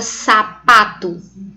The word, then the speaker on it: sapato: Exemplo, a palavra sapato. Sapato. Observe que o pá é a sílaba mais forte, mas eu não tenho nenhum acento gráfico indicando a sílaba mais forte.